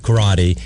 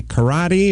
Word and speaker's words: karate: now do you say karate or do you say it like uh estrada said in that episode of chips karate no i say karate the american version disappointing is from oklahoma